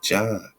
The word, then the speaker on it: Dzyan: This huge work is supposedly based upon the Book of Dzyan, which is like Zion, but they say pronounced John.